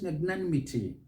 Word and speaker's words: magnanimity: so the word is magnanimity matan miti magnanimity note the stresses on that third syllable but here you might